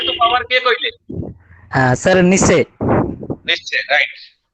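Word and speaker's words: Nietzsche: किए कथा कहिथिले negation of voluntary association के कहिथिले फिलोसोफर को फिलोसोफर अभिमन्यु निश्चय फिलोसोफर ना तांगा नाम होची निश्चय बुझेला निश्चय निश्चय निश्चय स्पेलिंग होची स्पेलिंग मु डाकी दोती लिख तांकर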